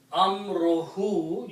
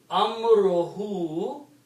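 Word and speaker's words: أَمْرُهُ: When you combine these two, they will become Amruhu. You do not pronounce two dhammas, you pronounce one dhamma only. Amruhu means his command.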